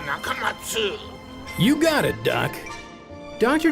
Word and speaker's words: Nakamatsu: He dropped the letter U because he says an 8-letter name is easier to remember, but he still wants you to pronounce it Dr. Nakamatsu.